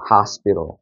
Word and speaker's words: hospital: 그러니까 이거를 호스피틀이라고 읽지 않는 거고 어떻게 읽어야 되나요? hospital이라고 읽는 거죠. hospital.